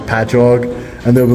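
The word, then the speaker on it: Patchogue: cities that we have it will be like patchog and they'll be like pachokei and I'm like no it's it's just ingrained into my brain that I know how to say them.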